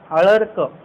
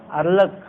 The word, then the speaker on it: अळर्क: बोलती नाव काय आहे अळर्क अलर्क आपण काय म्हणतो अलक तसं नाही अळर्क क वर तो रफार आपण तो वर तो रफार देतो अळर्क नाही अळर्क असा उच्चारण होतं अलक असा उच्चार होत नाही तर महागायंनी जे ऐकलेलं